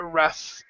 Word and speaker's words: rough: the GH has sounded you say it but then it's an F sound tough a rough and other times most